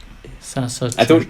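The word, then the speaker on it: Saša Čurčić: Sasa Churchic.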